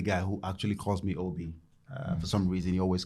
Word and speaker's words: Obi: Frank is the only guy who actually calls me Obi.